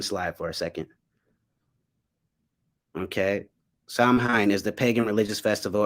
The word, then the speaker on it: Samhain: for a second okay psalm hein is the pagan religious festival originating from an ancient celtic spiritual tradition in modern times samhain a garlic word pronounced saw wing is usually celebrated from